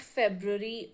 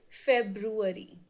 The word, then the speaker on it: February: It's not February or February. It's February.